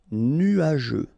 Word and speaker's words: nuageux: Nuageux. Final X not pronounced, and then G-E-U, je. Nuageux.